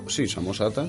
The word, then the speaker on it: Samosata: ¿Está bien pronunciado? Sí. Luciano de Samosata, Samosata, sí.